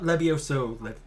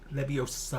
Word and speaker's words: Leviosa: Not Levioso. Leviosa.